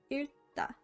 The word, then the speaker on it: 읽다: For example, the words we just covered, 읽어요 in dictionary form is 읽다, pronounced like 읽다.